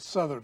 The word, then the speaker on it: Southard: We pronounce it Southard up in Virginia.